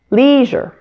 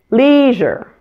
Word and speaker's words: leisure: the word ending here it has weak stress so make sure to pronounce it more quickly and quietly than the first syllable listen as I do it leisure leisure now let's say it